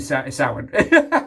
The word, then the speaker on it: Samhain: Samhain, however you pronounce it, wherever you're from, right? It's actually Samhain. We can be honest, it's Samhain, right?